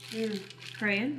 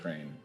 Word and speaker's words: Crane: But Crayon, right? Crane? How do you pronounce it? To me, it looks like Crayon. crayon. It does look like crayon to me. It's Crane. Crane.